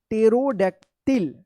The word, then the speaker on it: pterodactyl: टेरोडैक्टिल, टेरोडैक्टिल। अब यहाँ पे ना एस है ना एन है, फिर भी पी क्या है? साइलेंट है।